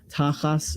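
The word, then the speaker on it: תחת: Avdecha tachat, right, instead of, literally beneath, right? This is where the word tuchas comes from. Tachas is how you say this in Ashkenazis.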